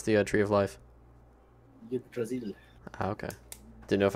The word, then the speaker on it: Yggdrasil: How do you pronounce the Tree of Life? Yggdrasil.